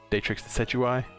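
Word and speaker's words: Decidueye: of salt uh but we have rowlet uh datrix the setui that's how you say it so this one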